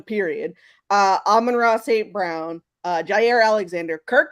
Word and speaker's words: Amon-Ra: even talk now, but I was working on pronouncing his name right. Amon-Ra. Look, I was close. Amon-Ra.